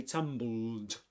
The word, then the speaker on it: tumbled: Okay, we say tumbled down, and the first syllable, the accented syllable, is pronounced with the same vowel sound as in fun, right?